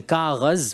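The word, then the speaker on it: کاغذ: At that time, it was called Kaghad, from the Persian Kaghaz, which is Urdu to this day, Kaghaz.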